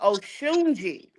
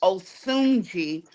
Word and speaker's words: Osunji: So I am pronouncing it wrong. The Africans told me my name is Oshunji. Oh But Shunji. yeah, but my grandmother named me Osunji. So I'm a stick with that.